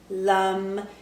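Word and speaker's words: लं: the root seed sound here is lum it's spelled lam but it goes lum that's the sound of it so let's do a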